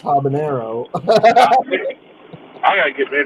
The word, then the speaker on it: habanero: But it's pronounced habanero.